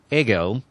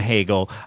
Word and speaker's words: Hegel: the show notes but fiche de and um ago which is how that is pronounced okay never do of the heartache well I think I think we can get away with Fichte and Hegel I think they're acceptable but um yeah this